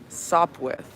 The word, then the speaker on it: Sopwith: with what's up okay i was trying to pronounce it without the uh p nope let's stop with sop with that's what snoopy fights